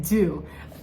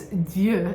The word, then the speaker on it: Dieux: They pronounce it dieux. It's dieux because it's a French word, and this is founded by 3 incredible ladies, Charlotte Parler, Joyce DeLimos, and Marta Friedman in 2020.